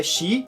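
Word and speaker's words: 四: Há uma conotação entre a pronúncia do número quatro, uma delas é xi, e a palavra morte, que se pronuncia xinu.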